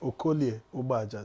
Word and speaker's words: Okolie Ubaja: Let me teach you how to say it in Delta. Okolie Ubaja. Say it. It's okay. Actually, there are 3 vowels. There are 3 vowels there, but because of contiguity, one will assimilate Okoli some.